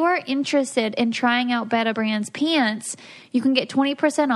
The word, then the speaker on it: Betabrand: So Beta Brand is That's right. I pronounced it correctly, right?